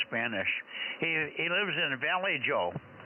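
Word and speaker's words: Vallejo: he he lives in Valley Joe he lives in Valley Joe or valo over oh okay well we being in San Jose we pron yes we do pronounce it bleo but I'll tell you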